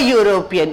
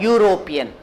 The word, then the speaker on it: European: a wobble sound it it is pronounced like a consonant sound european so he is a